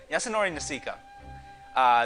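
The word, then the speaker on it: Yasunori Nishiki: I looked up pronunciation. Yasunori Nishika.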